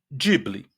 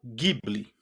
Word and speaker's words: Ghibli: Eu vou estar utilizando a pronúncia Ghibli a todo momento, mas vocês encontrarão também a pronúncia Ghibli ou Ghibli. Né? Vocês vão encontrar variações, porque esta palavra, em verdade, ela tem uma origem no árabe.